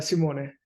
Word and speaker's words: Simone: Simone, is that how you pronounce it? Yeah, it's Simone, Italian.